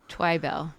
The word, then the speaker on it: Twibell: what does um emphasis on the wrong syllable so the second syllable gets the twybell twybell okay and how